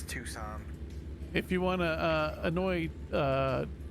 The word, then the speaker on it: Tucson: I butchered that name so badly. We're just heading through Tucum, We always just say Tuku. Macar. Yeah. It's Tucson.